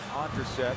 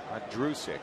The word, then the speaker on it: Ondrusek: Logan Ondrasek is on the right side. Ondrusek. I always foul up the pronunciation of that.